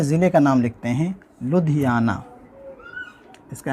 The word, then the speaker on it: لدھیانہ: سب سے پہلے ضلع کا نام لکھتے ہیں لدھیانہ۔ اس کا اسپیلنگ ہے لدھیانہ، لام اور یہ دال، دو